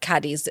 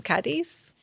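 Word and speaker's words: Cádiz: Um, officially prior to being called uh, Kadis, C A D I Z, it was Gadier, which is spelled G A D I R.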